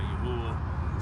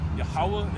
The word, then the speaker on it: Yahweh: Some people say Yahuwah, some people say, these different things. But at the root of it all, Yahweh is how you say his name.